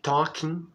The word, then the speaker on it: talking: Você pode ver que na continuação, depois de talk, que é o verbo conversar, tem talking, talking, com ing no final, tá? Nunca pronuncia a letra G, normalmente não, que é conversando.